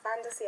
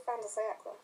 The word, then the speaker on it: fin de siècle: To start with, you're probably wondering what is the fantasy and why is it pronounced like that? Well, despite the spelling, it's pronounced fan, not fin because it's the French for end, and has nothing to do with sharks.